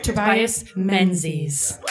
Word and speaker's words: Menzies: and no we promised we would never miss pronounce his name right tobias menzies yeah okay he wins he wins he should